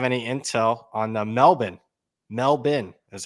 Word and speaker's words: Melbourne: you jents have any intel on the melbin melbin is how you pronounce it Melbourne cup my sister lived there for years uh really yeah yeah you think Melbourne nope the people in Australia pronounce it Melbourne